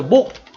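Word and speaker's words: 몫: 먼저 목. 이와 같은 경우 어떻게 발음이 납니까? 그쵸. 기역, 시옷이 기역으로 발음이 나죠.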